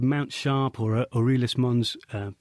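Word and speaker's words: Aeolis Mons: called Mount sharp or orus Mon's U I think that's the right pronunciation uh and it's actually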